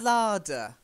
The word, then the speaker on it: larder: And then the larder. The larder. Oh, long A. So like a long A here. A larder. That's it. And make sure you get that D sound.